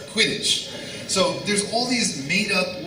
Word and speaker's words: Quidditch: Wonderful books, and despite having those really unusual, strange words like Kiddish, I can never Quidditch, I can never pronounce it right, Quidditch.